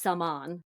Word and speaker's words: Salman: So Salman, it's actually pronounced Salman, whatever. Shine as I liked that they talked about the pronunciation. Especially he goes, the syllables on Salmon is the stress.